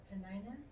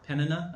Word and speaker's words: Peninnah: I'm not sure how to say her name, but Penina? It's probably, I think in Hebrew it'd be Peninnah. I think it would be more like Peninnah.